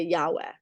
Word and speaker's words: Yahweh: it out loud but Scholars will say Yahweh which I think is a horrible pronunciation but in any case